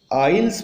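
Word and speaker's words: isles: Students, ये आइल्स पढ़ा जाएगा, एस इसमें साइलेंट है और ये आइलैंड से बना है जिसका मतलब होता है टापू।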